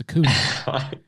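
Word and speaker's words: Acuña: I'm sorry, I keep pronouncing his name wrong. It's Acuna.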